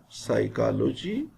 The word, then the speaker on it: psychology: silent in autumn him p is silent in psychology pneumonia this is another word